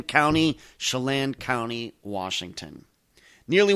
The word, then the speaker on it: Chelan: And yes, that is how you pronounce it. Chelan County, Chelan County, Washington.